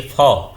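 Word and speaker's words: faux: जैसे अंग्रेजी लेटर्स में हो जाए मैक्स, और कुछ में साइलेंट होता है, जैसे फॉ, इसको फॉ पढ़ते हैं, यक्स यहाँ पर क्या होता है, साइलेंट होता है।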